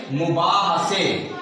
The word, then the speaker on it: مباحثے: میم کے اوپر پیش، بے الف با کے اوپر زبر، ہے کے اوپر زبر، سے پڑھیے سے، اس کے نیچے زیر. یہ لفظ بنے گا تلفظ میں مباحثے.